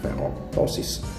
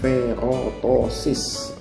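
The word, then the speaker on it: ferroptosis: namanya adalah feok tosis Vero posisi stir bacanya v-rod OSIS bukan Vero posisi tapi v-rod OSIS tiada bentuk kematian namanya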